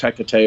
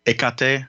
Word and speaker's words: Hecate: i've i've always used hecate i've heard in like with especially greek pronunciations it being like the h kind of gets dropped a little bit it becomes more of like a ekate kind of a thing